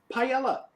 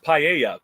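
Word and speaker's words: paella: national dish of Spain Pella not to be a complete dick about it but it's pronounced paa just so you know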